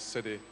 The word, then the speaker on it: Sidey: Because everyone mispronounces my second name. Instead of Sidey, it's Sidey, so hence Sid.